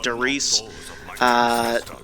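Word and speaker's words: Der Riese: eyes derice der eyes I call it their eyes I know it's pronounced Therese anyway two eyes one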